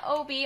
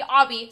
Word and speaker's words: Obby: of my mega fun Obie Obby sorry sorry I realized I realized I said it wrong as soon as I said it Obby here on Roblox okay